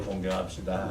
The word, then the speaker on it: 공경: 부모님을 공경합시다. 발음을 잘 하셔야 돼요. 요즘은 좀 경자를 그 밑에 이응을 기억으로 자꾸 붙여서 부모님을 공격하는 분들이 많아요.